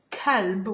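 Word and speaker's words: كلب: it means heart called if i use the soft k kalb with the same word kalb it means dog dog so okay that's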